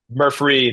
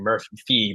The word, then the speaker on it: Murphree: So pay attention to how it's spelled. Murphree, thank you. I think I possibly missaid it at the beginning, Murphy, but no, it's Murph Murphree with a free at the Murphree.